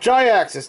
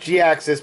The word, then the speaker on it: Jhiaxus: like no it's pronounced gi axis no it's pronounced g-axis because that's how he was named i'm sorry that that's